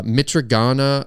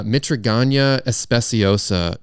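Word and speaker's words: Mitragyna speciosa: from the leaves of the uh mitragana uh let me try that again uh mitraganya especiosa tree um mitraganya especiosa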